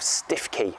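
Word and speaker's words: Stiffkey: North norfol Coast to towards the village of stiffy pronounced stuki here in norfol then from there he going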